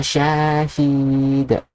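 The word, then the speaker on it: شهيد: This ya here, it's mad. Okay? Mad. Yeah. This mad ya here, if you are going to pronounce like id, id, like Y, like you're reading this one here, id, it's wrong. Actually, it's wrong.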